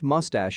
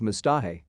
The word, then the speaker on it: mustache: same to me lol i pronounced mustache as mistah in my defense english